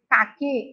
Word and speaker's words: caqui: E nessas sílabas, a letra U não é pronunciada. A gente não ouve. O que, que. A Pró vai mostrar uma palavra para você entender. Vamos ler? Ca, que. Caqui é uma fruta.